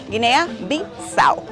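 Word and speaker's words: Guinea-Bisáu: de Guinea bisau y se pronuncia de esa forma a u Guinea bisau Y con quién tiene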